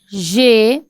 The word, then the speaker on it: j'ai: I will say j'ai. It is pronounced as one thing.